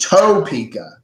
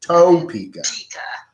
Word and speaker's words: Topeka: You gotta pronounce it toe, like your feet. Topeka. Topeka.